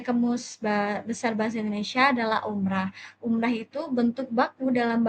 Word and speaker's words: umrah: Nah, umroh sendiri itu merupakan bentuk tidak baku dalam bahasa Indonesia. Jadi umroh itu bentuk pelafalan yang dipengaruhi oleh fonetik bahasa Arab atau kebiasaan masyarakat, tetapi tidak sesuai dengan kaidah ejaan bahasa Indonesia. Jadi yang benar adalah umrah.